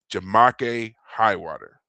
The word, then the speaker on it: Jamake Highwater: They hired a man named however you want to pronounce this, but I was always told it was Jamake Highwater.